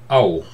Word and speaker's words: Á: Might pronounce it like in English word like shout, scout, or something like that. That's the sound approximately.